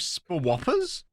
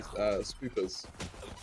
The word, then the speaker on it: Spoopers: So, shall we go with Spoppers? Spoppers? Spoppers is another great name. Apparently, in our name pronunciation sheet, it's meant to be Spoopers.